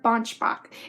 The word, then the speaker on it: Banschbach: the series it's by Claire Bosch Mach I hope I'm saying that right yes it's Claire bunch Bach and she is super